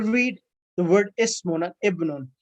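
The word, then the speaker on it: ابن: It's talking about if the word Ismun comes in the beginning of the sentence, the alif is pronounced, but when Ismun comes in the middle of the sentence or end of the sentence, the alif of Ismun and Ibnun becomes silent.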